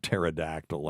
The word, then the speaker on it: pterodactyl: other words with silent P's include uh like pterodactyl and raspberry is a good one too so